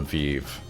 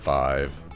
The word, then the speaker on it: Vive: vive hmm just uh i think that's how you're supposed to pronounce it and not not five i think five